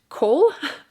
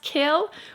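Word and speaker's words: Chaol: of that uh but cole i've been calling him cole i believe it's supposed to be pronounced kale which i i will die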